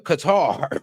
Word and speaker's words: Qatar: Now, let's explain the Qatar. Qatar. I don't know why they cut cutter. I do not understand. Like, do you not see how that is spelled?